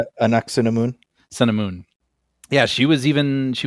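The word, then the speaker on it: Ankhesenamun: Anuk-San-Amun? Anuk-Sun-Amun.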